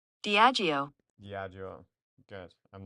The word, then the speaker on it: Diageo: Uh, Pronunciation. Diageo. Diageo.